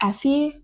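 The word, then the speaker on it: Aoife: This is the third book in the Boys of Tommen series, and this tells the story of Joey and Effie. I never know how to pronounce that name.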